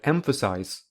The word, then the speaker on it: emphasize: is less stressed than the first syllable it has secondary stress therefore the stress pattern